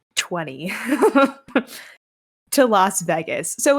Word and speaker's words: Vegas: not how do you it's v-e-g-a-s Vegas you're pronouncing it like v-a-y-g-u-s no I'm not yes